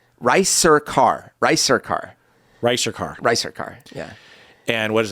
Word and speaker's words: Ricercar: It's a channel called Ricercar. But it's not, it doesn't have anything yet. So as soon as I post... How do you spell that? So it's R, it's like rice, Ricercar.